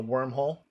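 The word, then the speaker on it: Wyrmhole: And it's spelled W-Y-R-M, so wormhole.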